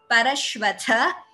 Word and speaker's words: Parashvatha: Parashvatha, tha is mahaprana, please note pronunciation, Parashvatha.